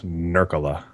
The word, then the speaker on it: Nurkkala: Somehow in the FPV community, it's become a fun joke to mispronounce my weird spelled last name in as many different ways as possible, but it's Nurkkala.